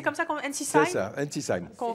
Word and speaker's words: Ensisheim: Vous habitez Ensisheim, c'est comme ça qu'on C'est ça, Ensisheim. qu'on prononce dans le Haut-Rhin.